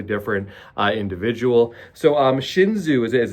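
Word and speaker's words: Xunzi: is a totally different uh individual so um shinzu is as it's pronounced um I'm going to just touch on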